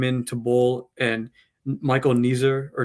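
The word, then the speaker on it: Neser: in, Dogget came in to bowl and Michael Ner or Nesser, I don't know how to pronounce Ner.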